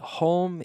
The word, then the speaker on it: home: So house is more casa, whereas home can be hogar. Okay? Home. So remember the pronunciation. Be careful with the pronunciation, closing your mouth with the M.